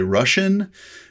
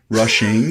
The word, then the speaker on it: Rushing: say rushing and they'll say russian i'm like no not russian rushing and then i'll spell it and then i'll say you know rushing like i'm in a hurry and then i feel